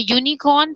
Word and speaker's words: unicorn: Because the unicorn sounds like Y, U.